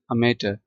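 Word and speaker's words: amateur: ले person non professional अमेटर non clerical आम आदमी मैंने इसको अमेटर पढ़ा है आर भी मैंने साइलेंट इसमें आर भी साइलेंट है जो मैंने पढ़ा तो यह ब्रिटिश एक्सेंट है।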